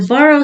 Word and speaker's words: Burow: And the borough solution, I have a bottle here. It's spelled like that. BUROW.